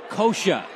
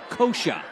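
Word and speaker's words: Coca: Kosha, spelled C-O-C-A, pronounced Kosha.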